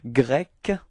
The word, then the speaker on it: grec: So final C, quite difficult to pronounce like that without anything before, but anyway, it's K, okay? And then feminine form is as well K, okay? So let's take an example. It would be easier to show you how to pronounce it. Okay, so we do have grec, okay? So it's ending with a K, K, K, grec, okay? And feminine form is the same, it's grec, okay?